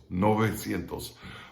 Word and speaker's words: novecientos: kind of like november remember the v is like a b without closing your lips you let your lips vibrate but you don't involve your teeth it's like not a v like all right so it's novecientos all right that's 900.